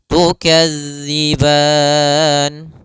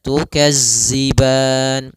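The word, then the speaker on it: تُكَذِّبَانِ: tukadziban pada lafal tukadzi sempurnakan daripada makhraj huruf dal jangan sampai terbaca dengan huruf zai misalnya tukazziban.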